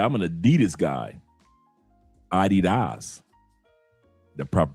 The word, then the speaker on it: Adidas: Adidas. The proper pronunciation.